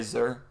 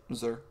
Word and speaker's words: Xur: I usually say Zer. Even though it's not a Z, but it's like Zer.